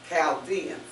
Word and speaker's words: Chaldeans: But in this sense, it's pronounced as a K, Chaldeans.